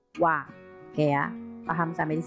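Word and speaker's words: は: Tapi ketika dia berubah menjadi partikel atau disebut partikel, maka pengucapannya bukan H melainkan wa.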